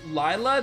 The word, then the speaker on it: Lila: I don't care if they say Leela. Leela sounds stupid. If you don't pronounce her name Lila, then I hate to tell you, but you're a madman.